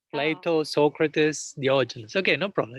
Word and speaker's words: Diogenes: When the famous Diogenes, Greek philosopher, I don't know if you pronounce it like that in English, Diogenes.